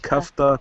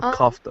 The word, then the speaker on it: kafta: It's pronounced kafta kebab. Kafta, not kofta. It's kafta. Kofta. Kafta. Kafta. Kafta. That's how you pronounce it.